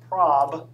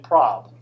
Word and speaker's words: prob: So there's two objects in Max that if you pronounce them incorrectly are kind of awkward. Okay. But this is anal, as in short for analysis. And this is prob, as in short for probability. Okay, you all are dirty minds, all of that. Okay, you're thinking of what this. Okay, so if you pronounce these incorrectly, it can be kind of socially awkward.